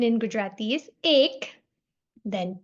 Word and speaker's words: એક: 1 in Gujarati is ek.